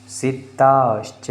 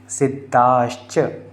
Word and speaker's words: सिद्धाश्च: अरहंतो भगवंत इंद्र महिता सिद्धाश्च सी, और चा का उच्चारण जो आ रहा है ना वो एकदम स्पष्ट आना चाहिए। सिद्धाश्च सिद्धाश्च ऐसे करके, सिद्धाश्च सिद्धेश्वरः, रुकना है, स्टॉप, एकदम लगातार नहीं बोलना है।